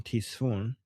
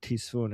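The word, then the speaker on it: تیسفون: Ctesiphon in English or Tisfun in Persian.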